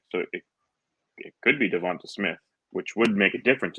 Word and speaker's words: DeVonta: It's not Devontae Smith. It's Devonta Smith at the end.